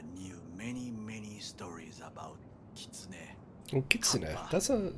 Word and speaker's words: kitsune: many many stories about kitsune that's a name i recognize from uh shadowrun i was just pronouncing it kitsuna though but consider i